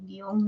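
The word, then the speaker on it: guion: Guión no se separa porque es un diptongo. La O suena más, siempre es un diptongo. Profesora, pero yo escucho guión, así con 2 sílabas. No importa, es el diptongo se escucha como 2 sílabas.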